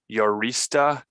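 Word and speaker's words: Urista: your last name is yorista rhymes with Barista but sounds a lot like uranista because she's unemployed she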